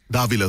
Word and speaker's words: Davila: We have, and I knew I was going to ask you before the show how to pronounce the last name. Is it Davila? Is it Davila? Davila, the first one.